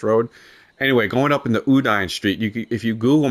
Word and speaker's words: Udine: the houses on uh I think it's pronounced Udine Road. Udine Road. U D I N E.